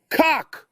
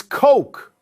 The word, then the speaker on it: Coke: In any case, rounding out the roster, a 14 handicap by the name of Cock. It's Coke. It's pronounced Coke. I'm pretty sure it's Cock. Coke, like the soda.